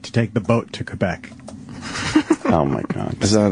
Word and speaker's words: Quebec: it's worth it to take the boat to Quebec.